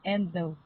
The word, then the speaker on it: endow: spell that word yes no the the the Endo the word yes it's pronounced as endo and the spelling is e